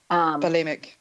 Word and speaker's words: bulimic: Well, I know with the how do you pronounce that? Bulimic. Bulimic.